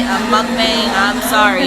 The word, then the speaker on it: mukbang: That's how you say it, a mukbang.